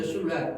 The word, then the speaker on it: shipwreck: W가 묵음이죠. shipwreck, 난파.